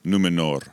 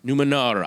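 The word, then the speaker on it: Númenor: island kingdom of numenor well pronounced r on the end numenor numenor i don't want glenn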